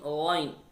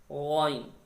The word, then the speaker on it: غ: وَمِن شَرِّ غَاسِقٍ Ghain. Ghain also throated letter. We pronounced from closest part of throat near the mouth. Ghain.